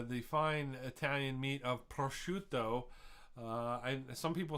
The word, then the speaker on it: prosciutto: were a kid uh some people call it brazoot which uh it you look at the name and you go what but uh prosciutto it is a uh cured italian